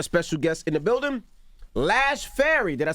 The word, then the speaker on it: Lash Fary: We got a special guest in the building, Lash Fary.